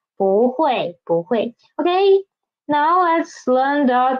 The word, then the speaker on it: 不会: When bu is before fourth tone syllable, it will change from first tone into second tone, right? For example, 不会.